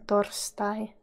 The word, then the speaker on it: torstai: Thursday in Finnish is torstai. Torstai. Torstai. Remember too that R and S, you need to be sharp with both of them. Torstai.